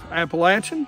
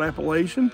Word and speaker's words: Appalachian: Appalachian, not Appalachian. We live here, we know how to say it.